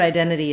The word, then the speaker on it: identity: The word identity is stressed on the second syllable. Den has the clear red tent vowel, and then the letter I is sort of unusual. It has secondary stress, and we use the diphthong I here, like the letter I or my I.